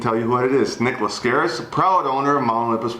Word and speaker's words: Nick Laskaris: know what my name was so i'm gonna pronounce it and tell you what it is nick lascaris proud owner of mount olympus water and theme